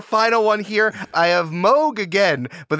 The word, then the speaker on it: Moog: we have our final one here I have Moog again but it's actually pronounced Moog what does the company Moog make ice cream